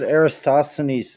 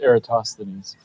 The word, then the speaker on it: Eratosthenes: is it why can why is aristocenis not a measurement by the way it's pronounced eratosthenes aristocenes no heretos that